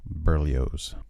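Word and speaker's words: Berlioz: This is B E R L I O Z, which I just say Burlio's.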